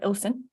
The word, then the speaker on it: Ilkeston: So my parents are from a town called Ilkeston. You call it Ilson.